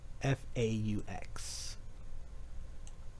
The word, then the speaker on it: faux: F-A-U-X. It's pronounced faux, but it looks like fox.